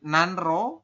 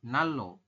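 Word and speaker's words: 난로: Kemudian nanro, tulisannya dibacanya adalah nalo.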